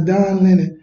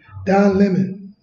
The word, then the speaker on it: Don Lemon: No, it's Don Lennon. Don Lemon. Lemon? Yeah, I guess it's Lemon. Lemon. From CNN, this reporter right here. Yeah, Don Lemon. Oh. That's how they spell it. L-E-M-O-N.